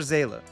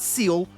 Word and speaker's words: Seele: Spoiler alert, it's Hersher Zayla. Not Seal, not Seely, not Seela. Seela. Zayla. It's German. Look, listen. Seele. See? Good. Now pronounce it correctly.